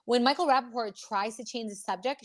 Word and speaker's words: Rappaport: And then in the interview with Michael Rapport that we just put up, she's doing the same thing, discussing Teresa's girl. And when Michael Rappaport, I said his last name wrong, when Michael Rappaport tries to change the subject, she brings up